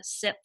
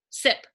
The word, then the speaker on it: Sip: No F. F is silent. Sip. Yep, sip. Oh man, I've avoided saying it for years. How do you say it again? Sit. Sip. Like you're taking a sip of coffee. Okay.